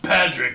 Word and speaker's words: Padraig: It's pronounced Padraig, not Martini. This one.